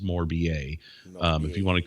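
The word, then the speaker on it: Morbier: like it's spelt more beer but it's actually pronounced more ba if you want to call it more beer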